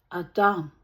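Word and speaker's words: אדם: The name Adam, which in Hebrew is pronounced Adam, means earth.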